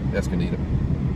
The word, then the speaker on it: Escondido: Escondido.